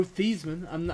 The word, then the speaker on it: Theismann: Joe Theismann. I refuse to call Joe Theismann Joe Theismann. It's Joe Theismann. Heisman. It's Joe Theismann. They changed it in college so it would rhyme with Heisman.